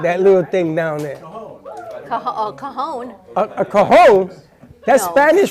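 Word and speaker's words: Cajón: Cajon. A cajon? That's No. Spanish for something I know what else. that is. It's spelled I already messed it up.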